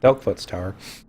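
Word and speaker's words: Delkfutt's Tower: I'm gonna dunk dent into I always mispronounce it. I used to call it Dipshit's Tower, but it's Delkfoot's Tower.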